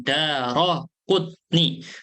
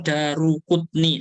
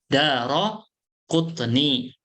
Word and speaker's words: Daraqutni: Bacanya yang benar apa? Roknya difathahkan. Daraqutni. Banyak yang bacanya Darukutni. Salah. Bukan Daru bacanya. Daraqutni.